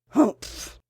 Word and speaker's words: humph: "Humph!" said the Sand Fairy. If you read this story aloud, please pronounce humph exactly as it's spelt, for that is how he said it.